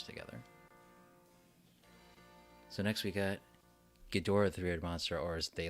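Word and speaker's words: Ghidorah: dot dot or else gidra is such a weird pronunciation yeah I've heard I think gadora is the right way to say but I've heard it that that gidra is actually a valid way of saying it too so I'm not quite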